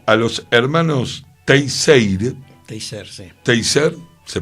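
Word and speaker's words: Teisseire: Teiser se pronuncia, gracias, se dice también que muchos otros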